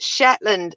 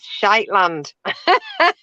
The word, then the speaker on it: Shetland: And then Ian goes, your subtitle pronounced Shetland as Shiteland.